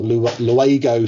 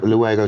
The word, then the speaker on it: Luego: And then in 98 to 05, you became the operations director for Luego Sports Cars. Have I pronounced that correctly? That's correct, yeah. Luego Sports Cars.